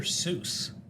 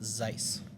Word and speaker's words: Seuss: he works with Dr Seuss it's actually supposed to be pronounced Zeiss believe it or not I can't pronounce his